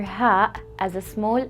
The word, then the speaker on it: هاء: The letter Ha is equivalent to the letter H in English, as in house, hint, or hat, and not as in hour.